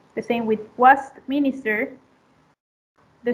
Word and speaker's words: Westminster: The same with 13, it is in the second syllable, the stress, and 30 in place. The stress goes to the first syllable. The same with Westminster, the stress is in